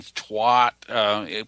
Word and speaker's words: Tuat: It's spelled T-U-A-T, and Twat, which means the place where mystical visions are achieved.